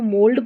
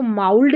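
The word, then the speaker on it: mould: डी रहता है तो इसको मोल्ड पढ़ेंगे, क्या पढ़ेंगे, मोल्ड। इसको माउल्ड नहीं पढ़ना है, माउल्ड नहीं पढ़ना है।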